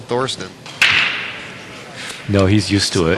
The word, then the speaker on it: Thorsten: sorry it was called Thorsten no he's used to it Ohio accent oh we are in Dallas Texas y'all well you know the you know over there th is pronounced like a T and in America of